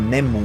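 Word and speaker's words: ネーム: historia y el llamado name o name on como lo pronuncian los japoneses que es como el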